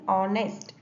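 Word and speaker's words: honest: अब नेक्स्ट example है एन ऑनेस्ट, ठीक है। अब है तो स्टार्ट कंसोनेंट से, एच से, बट हम एच को साइलेंट प्रोनाउंस करते हैं, ठीक है, और बोलते हैं ऑनेस्ट।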